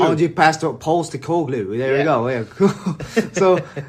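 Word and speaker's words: Ange Postecoglou: Is that how you pronounce it? Angie. Yeah, Angie Postecoglou. Angie Postecoglou.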